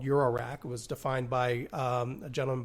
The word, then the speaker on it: eurorack: a new format called eurorack was defined by a gentleman by name of dopher can you spell that dopher no you EU ro R ACK okay it's like euro like the currents just wanted to make